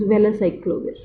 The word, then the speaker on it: valacyclovir: If we read it as well, well, velyl ester of acyclovir, but to pronounce it is valacyclovir.